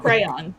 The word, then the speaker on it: Cryon: A dour man who introduces himself as James Cryon, as well as a kindly... It's crayon. Yeah, it's pronounced crayon, Chris.